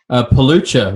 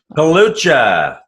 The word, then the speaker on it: Pelucha: I'm Dave Henning, and today my guest is Phil Pelucha. Am I pronouncing that correctly, Phil? Pelucha. You were pretty close. Pelucha.